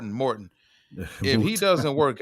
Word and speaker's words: Morton: Because at the end of the day, if the offensive coordinator, I forgot his last name, was it Moton? Yeah. Mouton? How do you John pronounce it? John Morton. Morton.